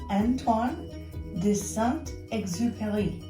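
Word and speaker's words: Antoine de Saint-Exupéry: It's a wonderful story, and the name of the author is Antoine de Saint Exupery, and that's sort of how you say it with the French accent.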